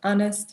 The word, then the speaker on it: honest: vocabulary improvement for example honest we don't pronounce the h but it's still there reliable with the i